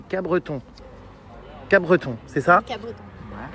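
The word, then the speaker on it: Capbreton: à alors apparemment dit j'ai appris qu'on disait pas Cape Breton mais Cabreton Creton c'est ça Cabreton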